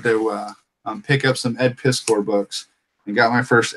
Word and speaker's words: Piskor: Ed Piskor, Piskor, I think he pronounces it actually.